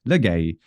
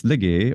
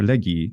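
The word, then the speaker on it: λέγει: But everyone who uses Erasmian thinks that it is a for legay, and it's not. It's legay or legi, depending on the century in antiquity.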